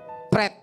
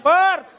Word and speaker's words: Perth: I'm Pret. Pret. Perth. Kalau mau pret ke toilet, jangan pret di sini ya. Perth maksudnya Perth. Oh, Perth. Ya, dibaca Saya pikir pret.